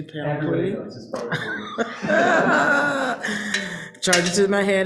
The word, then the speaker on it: Panoply: Many of you probably heard me pronounce that wrong and say panoply, and it's supposed to be panoply.